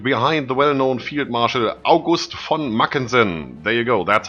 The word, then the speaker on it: August von Mackensen: generals have rallied behind the well-known Field Marshal August von mackensen there you go that's how you pronounce that for everybody watching I've heard that